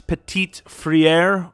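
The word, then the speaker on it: Petit-Frere: have a tackle though his name is nicholas petit friere that's how you say his name it's pretty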